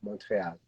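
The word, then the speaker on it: Montréal: This is my little bit of French every single episode, is by pronouncing Montreal as Montreal.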